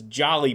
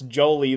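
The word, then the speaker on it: Joly: I I always thought it was Jolly, but John, you you have a personal connections why you knew how to pronounce Jolie the right way.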